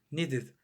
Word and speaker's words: needed: El verbo need termina en D, entonces la pronunciación del pasado va a ser, de ese D va a ser id. Needed.